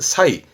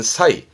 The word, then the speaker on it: 差異: 발음은 사이. 음으로는 사가입니다. 발음은 사이.